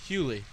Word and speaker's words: Hughley: Hughley was How not do you as big pronounce as the Eddie last Griffin. name? Hughley.